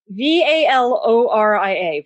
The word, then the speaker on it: Valoria: i can't i don't know if i can't pronounce it v-a-l-o-r-i-a val laura gloria valoria yes wow yeah